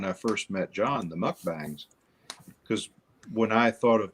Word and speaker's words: mukbang: is definitely not considered what a mukbang is it rhymes with Mustang really well yeah yours is more